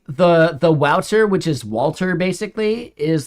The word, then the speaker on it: Waltr: yeah yeah yeah like Walter is basically Walter and like the French version of Walter is godier and then he just like butchered the spelling of it because it's actually a